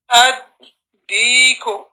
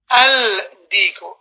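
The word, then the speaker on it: الديك: And that is how you pronounce that. Lam is added to the ra. Deekun. Deekun. Ad-deeku. Ad-deeku. Some of the brothers in the recordings, they happen to say al-deeku.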